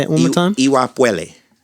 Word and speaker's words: Iwa Pele: Yo, did you pronounce it Iwa Pele? So it's like Pele Pele, but the P sound in that E is like pue, like puele. Say it one more time. Iwa Puele. Iwa Puele.